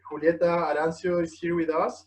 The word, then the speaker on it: Julieta: And today I just heard we had to pronounce it as Julieta, right?